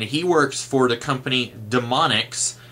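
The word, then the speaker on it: D'Monix: cochrane's father and he works for the company demonics D apostrophe m-o-n-i-k-s I think and of course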